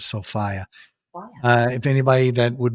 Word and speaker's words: Sophia: the Princess Sofia or some people say Sophia but the way they pronounced it was sofiah uh if anybody that